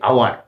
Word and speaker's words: hour: যদি এইচ থাকে এবং এইচ এর উচ্চারণটা যদি সাইলেন্ট থাকে, অর্থাৎ নীরব থাকে, উজ্জ্ব থাকে, এখানে আমরা উচ্চারণ করতে গিয়ে অ্যাকচুয়ালি এইচ এর উপর স্ট্রেস দিই না, উচ্চারণ করতে গিয়ে আমরা হাওয়ার বলি না, আমরা বলি অ্যাকচুয়ালি আওয়ার।